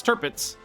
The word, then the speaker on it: Tirpitz: Thought it was No, it's Tirpitz.